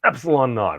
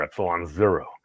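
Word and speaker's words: ε₀: we noted be not pronounced Epsilon naught or Epsilon zero is the value of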